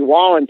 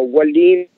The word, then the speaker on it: Wallin: They pronounce it a little different, so Wallin or something.